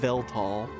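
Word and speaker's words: Weltall: So, this is this is well tall. As I learned, it's actually pronounced tall.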